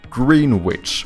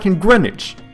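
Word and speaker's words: Greenwich: at this and go like oh yeah this is like a green witch or something no it's grenage how why why it's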